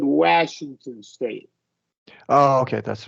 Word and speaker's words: Washington: sounded like you said Washington State. Oh, okay, that's right. A is like a kind of a, yeah, not After a lax. W, yeah, W, yeah. it is lax.